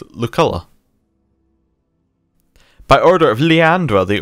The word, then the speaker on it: Luculla: I also called it Lucilla, and it's Luculla.